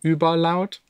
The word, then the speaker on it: Überlaut: Let's get to the next one by Überlaut, or however, I mean, I'm German, I should know how to pronounce Uber. The correct way would be Überlaut.